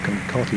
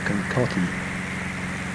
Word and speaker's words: Kankakee: Greater Kankakee Unicom, Beach 1842 Charlie.